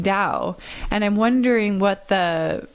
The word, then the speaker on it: Tao: is okay to say tao or does is that disrespectful um that's probably the american way of saying it then the chinese would pronounce it more like with a d instead of a t okay good i just